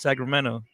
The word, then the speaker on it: Sacramento: louie i missed it sacramento so it sounds more like a d yes sacramento you know i feel